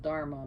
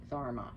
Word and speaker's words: dharma: the i know it's just so wouldn't be pronounced dharma but therma she's also known as she's whose beauty is